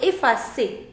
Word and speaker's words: effacer: Now, effacer. The pronunciation is S. But here after C you have E. So if after C you have E, the pronunciation is already S. So effacer.